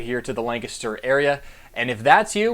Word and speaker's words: Lancaster: probably already heard me say it it is pronounced Lancaster not Lancaster the number one way to blend in is to pronounce it Lancaster that's it nothing gives away somebody from out